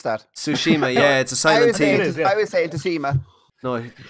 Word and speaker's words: Tsushima: before we hit topic of the week we pronounce that Tsushima yeah it society FEMA no Tsushima yeah yeah